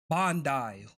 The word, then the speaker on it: Bandai: How do you pronounce them? How do you say their name? Bandai.